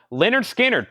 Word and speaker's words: Lynyrd Skynyrd: the monkeys and 45 and 65 on that Leonard Skynyrd pronounced Lynyrd Skynyrd VG 1499 the OG MCA label